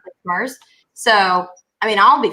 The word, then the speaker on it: MERS: You pronounce it MERS.